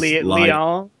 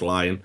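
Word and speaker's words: Lyon: Uh, Pain Gaming and Lion Gaming, even though it's spelled Leon, it is Leon. Yeah, apparently it's Apparently it's Lion.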